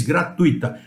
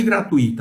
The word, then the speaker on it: gratuita: E eu ressalto, lá em São Paulo vocês vão falar gratuita. Nada de gratuita, a palavra, a pronúncia é gratuita.